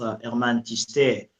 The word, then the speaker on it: Herman Thystere: Okay, my name is Herman Thystere. In French, it is pronounced Herman Thystere.